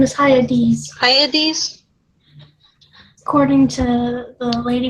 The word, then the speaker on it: Hyades: Says the pronunciation was Iades or something like that. It's weird. It's like got some sort of Euripides thing going on. Now it's Hyades, according to someone pronouncing it on YouTube.